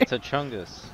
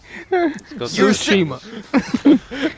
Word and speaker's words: Tsushima: It's Ghost of T'Chungus. Oh my, I really just lost brain cells there. Like, he actually sounded serious. Tsushima? Oh my god. How do you pronounce it? Tsushima.